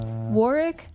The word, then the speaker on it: Warwick: war uh it's pronounced Warick. I pronounce it Warwick because I refuse to acknowledge that the UK cannot remember to pronounce the extra W in the word.